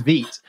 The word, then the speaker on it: Vite: the the build tool is it veto Vite feet I think meat I think it's me it's the French pronunciation right yes if you use Veet and you create a